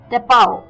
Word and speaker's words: tapau: Moving on, the fourth word for the evening is टेपाओ. टेपाओ, जी हाँ, ये भी अटपटा वर्ड है, TAPAU, टेपाओ, TAPAU, टेपाओ. इसकी प्रोनाउंसिएशन थोड़ी अटपटी जरूर है, पर ये भी इंटरेस्टिंग वर्ड है.